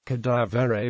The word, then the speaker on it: cadavere: Cadavere means broken, worn out, exhausted, or dead. It is the local pronunciation of the standard French word cadavre, whose meaning in standard French is corpse.